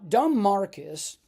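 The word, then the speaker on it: Don Marquis: Now, Dom Marcus and a and that's the way you pronounce it, by the way.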